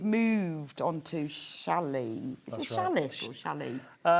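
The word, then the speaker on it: challis: olden the the old the older term used to be shallie. Shallie. Cuz you used to get wool shallie. Yes. Um, but it's known because of how it's spelt. Okay. As viscose shallis.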